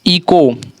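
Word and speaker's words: echo: इको, ठीक है, ये हमारा क्या हो रहा है, इको, लग रहा है कि ECO, इको पढ़ा रहा है, लेकिन एच भी इसमें है। ठीक है, लेकिन उच्चारण नहीं हो रहा है।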